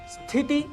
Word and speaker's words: स्थिति: उच्चारण कर बैठते हैं स्थिति स्थिति इसके लिए स्थिति शब्द का प्रयोग करते हैं जो गलत है स्थिति यह इसका शुद्ध उच्चारण है मित्रों प्रादेशिक भाषाओं में